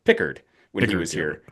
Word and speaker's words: Pickard: So, I think yes, we see we see a Pequard, which I believe is actually pronounced Pickard when he was here. Pickard.